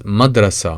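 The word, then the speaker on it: مدرسة: If you add M with a vowel R to the beginning and add ta marbuta to the end of it, which is always pronounced A, and it is madrasa.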